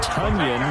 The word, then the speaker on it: Tonyan: So that catch by Robert Tonyan, as in rhymes with onion.